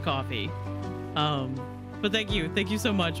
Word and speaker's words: Ko-fi: I keep thinking it's Ko-Fi or Kofi, but I think it's supposed to be pronounced coffee.